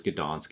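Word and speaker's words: Gdańsk: it's the german pronunciation is donzig the real pronunciation the the one that's stuck historically is gdansk it's a polish city uh but there was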